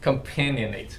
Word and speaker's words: companionate: Is that how you pronounce it? Companion. Companionate.